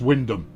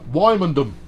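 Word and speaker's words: Wymondham: wymandum uh norwich uh pronounced windham nope uh four degrees and clear no wymandam that's that's how that's pronounced marriage flipping wrong county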